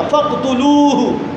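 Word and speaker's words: فاقتلوه: نے کہا فقتلوہ، فقتلوہ، لام کو لمبا کرنا ذرا، غلط تلفظ نہیں کرنا، فقتلوہ۔ میں نے کہنا من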